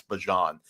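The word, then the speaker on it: Bijan: Is that what we got all I think he said that we've all been saying his name wrong and it's Bjon which he should not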